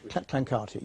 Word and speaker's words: Clancarty: Clancarty, yeah. Oh, is that how it's pronounced?